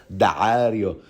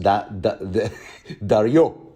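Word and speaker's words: Daario: Since his name is spelled with a double A, I am tempted to pronounce it Dario, with the Arabic Ain.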